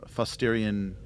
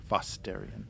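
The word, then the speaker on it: Fosstarian: frigid lifeless uh Class K world and uh fosterian uh two is a uh uh as a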